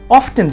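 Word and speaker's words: often: American इसे ऑफ्टन कहते हैं, बट ब्रिटिश इंग्लिश में इसकी सही प्रोनाउंसिएशन है ऑफन। तो मेरी सलाह होगी आपको कि आप भी इसे प्रोनाउंस करिए ऑफन।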